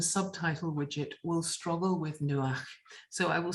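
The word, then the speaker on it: נוח: dare say the subtitle widget will struggle with nuach so i will spell it to save any confusion and in english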